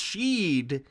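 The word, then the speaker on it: sídhe: It's pronounced Sheed in Gaelic. It's the Gaelic for fairy world.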